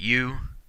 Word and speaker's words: eu: And our last prefix here, EU, is pronounced U.